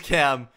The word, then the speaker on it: Cam: and then I see my name is Cam it rhymes with lamb can I have a